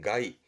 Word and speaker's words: 害: 발음은 가이, 가이.